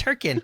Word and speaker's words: Hurricane: never even been there apparently I know you're pronouncing it wrong it's herin come on Noob it's it's h it's h